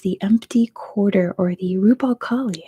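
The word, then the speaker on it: Rub' al Khali: It is the empty quarter, or the Rub al Khali, as others are saying. That's how you say it in Arabic.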